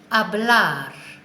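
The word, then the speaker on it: hablar: first of all the verb to speak is a black so that's spelt H a BL a R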